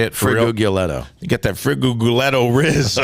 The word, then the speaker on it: Frigolette: Friguguletto.